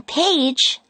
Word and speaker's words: page: If the word has a g followed by a silent e, you pronounce the g with a j sound. The g in page sounds like j.